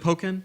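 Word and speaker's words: Pokkén Tournament: Is it Pokken? Yeah. Is that how you It's pronounce like it? Tekken and Pokken.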